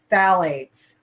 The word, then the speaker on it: phthalates: There are the phthalates. Phthalates. It's pronounced without that P.